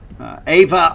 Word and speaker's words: Aiva: former Washington Middle infielder Ava arette it's a IA Ava arette or Iva probably the the better pronunciation uh he is from